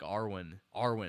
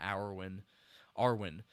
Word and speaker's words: Arwen: I'm saying her name wrong, I think. Arwen, not Arwen.